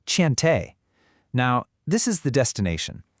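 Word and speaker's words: Cheontae: But then in contrast he gives us Tant Thai pronounced Chante.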